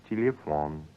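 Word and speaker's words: телефон: But what about unstressed ye, as in the word for telephone? You don't say telephone, but telephone. It sounds more like a ye.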